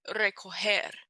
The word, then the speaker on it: recoger: So, for example, soft G is like recoger, to collect or to gather. Gente, people. Girasol, a sunflower.